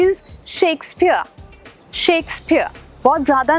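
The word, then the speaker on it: Shakespeare: Absolutely he इज शेक्सपियर। शेक्सपियर बहुत ज्यादा ना प्योर बोलने की जरूरत नहीं है। शेक्सपियर शेख पीर नहीं शेक्सपियर।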